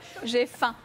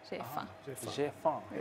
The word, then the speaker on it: J'ai faim: J'ai faim.